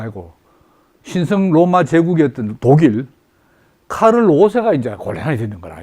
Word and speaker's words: 카를: 신성 로마 제국이었던 독일 카를 5세가 이제 곤란이 되는 거라, 이게 카를 5세가. 카를 5세. 프랑스어로 발음하면 샤를르가 되고, 영국처럼 하면 찰스. 독일어는 카를 얘기해.